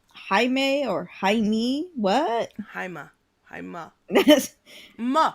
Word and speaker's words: Jaime: Is it pronounced Jaime or Jaime? What? Haima. Haima. it, Ma. it's Ma. it's pronounced Jaime, but are you referencing the early part of